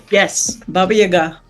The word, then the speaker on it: Baba Yaga: Yes, Baba Yaga.